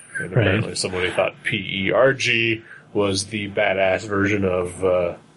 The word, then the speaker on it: PERG: The title of the book was PERG, and underneath it had a pronunciation key. So, it just, in parentheses, said pronounced purge.